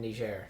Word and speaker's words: Niger: that you've been saying Niger wrong it's not pronounced like that that's pronounced it's because it's French actually it's Niger yeah I feel like